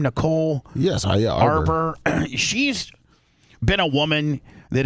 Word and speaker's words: Arbor: Yes, Arbor.